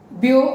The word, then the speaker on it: Biot: The two scientists, Biot and Savart, don't read their names as Biot-Savart. Okay, this is Bio, it rhymes with Leo, and this Savart rhymes with bazaar.